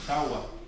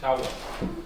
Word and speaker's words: jagua: This is the way how you pronounce it Shawa. This is how our ancestors used to pronounce it, Shawa.